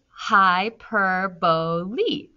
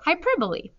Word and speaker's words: hyperbole: It's pronounced as hyperbole. So hyperbole.